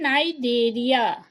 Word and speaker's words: Cnidaria: हाँ, फिर देखें इसका दूसरा नाम दिया गया है नाइडेरिया। दोनों सी से ही शुरू है, लेकिन यहाँ क्या है? नाइडेरिया। सी यहाँ क्या हो रहा है? साइलेंट है, सी नहीं बोलेंगे, नाइडेरिया।